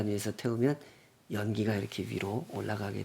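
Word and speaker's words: עֹלָה: 번제 라고 번역을 한거구요 올라 라는 말 우리말 올라간다 하고 발음도 굉장히 비슷한데요 아 실제로 그런 뜻입니다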